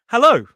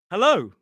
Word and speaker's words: hello: Most people pronounce this word with a more closed sort of closed sound like hello.